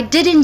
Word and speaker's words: didn't: So I didn't do it. I didn't do it. I didn't do it. I didn't do it. So the last letter is N, and I skip the T in didn't.